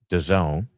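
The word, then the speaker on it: DAZN: I had phonetically because it's spelled the the acronym is D A ZN. So I don't know how you get Done out of that, but I trust you goose implicitly.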